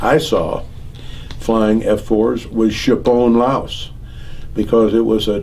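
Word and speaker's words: Tschepone: they were worshipping this it might not show chapon laos is right here and it's spelled t-s-c-h-e-p-o-n-e and i was down in this thing after see uh i had flown the mission against chipone laos when i was here at cameron bay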